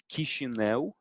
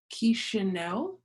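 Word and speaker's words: Chișinău: Teach me how to pronounce the capital. Oh, the capital. Yeah, so it's Chisinau. Chisinau.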